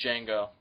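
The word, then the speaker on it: Django: that and the name is D Jango the D is silent such such a classic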